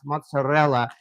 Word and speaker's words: mozzarella: done it just because I pronounce mozzarella with like a rolling my R's, my mozzarella, and mix it with the ricotta. And those are the only things I really pronounce that way. And I am not exactly blame, but I give credit, as I said, to the Italian family I grew up with for for teaching me to pronounce those particular kinds of cheese like that.